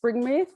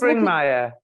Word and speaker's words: Springmeier: It's How the Illuminati Created an Undetectable Total Mind Controlled Slave, from Cisco Wheeler and Fritz Springmere. Probably didn't pronounce that right either. So I was Springmeier. Springmeier. See, does everyone excuse me for?